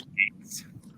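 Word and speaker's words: Gaetz: I believe Well, the this is- pronunciation is Gates. Yeah, it's Gates, like a gate, you know?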